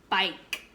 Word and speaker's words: bike: Okay, your word is bike. Bike. We hear the b, I, k, but there's a silent letter at the end, okay?